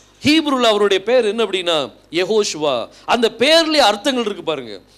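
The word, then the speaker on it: יהושע: ஓ அப்படின்னு சொல்லி போடுறேன் யா ஓ சுவா இதை உச்சரிக்கும் போது என்ன பேர் வருது யெகோ சுவா யெகோஷுவா வந்து நம்முடைய இரட்சகருடைய உண்மையான பெயர் நாம சுருக்கமா இயேசுன்னு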